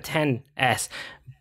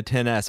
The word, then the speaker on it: XS: the max that's the 10s I never know which ones the correct way to say it but anyway I think it's actually 10 I think it's it's